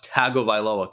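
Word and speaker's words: Tagovailoa: Tua that I still get corrected oh it's tago vioa can't you read I want to I want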